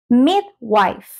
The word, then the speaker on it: midwife: no se dice midwife vean como el principio permanece igual pero luego cambia esta palabrita aquí no es Wi sino wife wife tal como esposa en inglés wife Y en este caso tenemos La Negrita al principio significa que debemos Elevar la entonación al principio midwife midwife midwife midwife